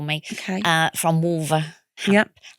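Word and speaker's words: Wolverhampton: Uh from Wolverampton, I'm going to pronounce the H. Hampton, but if I really it's Wolverampton and it's right in the middle of England next to Birmingham and Coventry.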